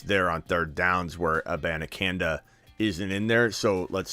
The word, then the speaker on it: Abanikanda: Abanikanda. Abanikanda is a really good running back, and I think eventually he does take over the backup role.